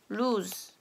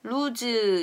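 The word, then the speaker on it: luz: 그런데 단어의 끝에 왔다 그러면은 발음이 약해지면서 시옷과 같은 소리가 난다. 여기다가 써볼게요. LUG 이렇게 Z 이렇게 쓰면요. 빛이라는 뜻이에요. 전등이라든지 불, 이런 불빛 이런 뜻인데 이것은 lose 이렇게 발음을 합니다.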